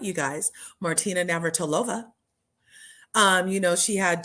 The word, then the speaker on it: Martina Navratilova: She went and learned opera so that her wife, Martina Navratilova, look, I said it right, you guys, Martina Navratilova, she had 2 cancers and she beat them both.